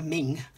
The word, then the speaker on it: Meng: And this is the fairly new kit from Meng, which I believe is pronounced Ming, but we call them Meng in England.